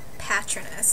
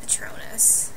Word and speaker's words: Patronus: fun of me because sometimes i say patroness instead of patronus i don't know why